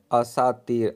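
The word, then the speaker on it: اساطیر: کا معنی یہی ہے۔ تلفظ اوپر آپ دیکھ رہے ہیں، اساتیر الف پر زبر ہے۔ اس کا ایک اور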